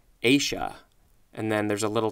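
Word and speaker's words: -aceae: So the word is pronounced Asia.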